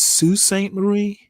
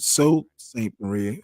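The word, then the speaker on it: Sault Ste. Marie: of suain is it I think it's Su St Marie uh just over the Michigan Ontario or is it so St Marie I I think I've heard it pronounced Sue uh just over the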